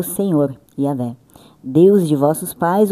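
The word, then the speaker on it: Yahweh: Eh, pronúncia hebraica, Yahé.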